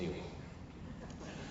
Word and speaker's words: Niall: Now, this is most associated with the British historian Neil Ferguson. His name's spelled Niall, for some reason he insists on pronouncing it Neil.